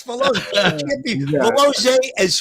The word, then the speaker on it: Valoze: It's Veloze. How do you say it, Velozi? Velozi. Velozi. That's what I said. I'm Italian. You said Valoze like a shadrul. I might have said that. It's Velozi. That's Velozi.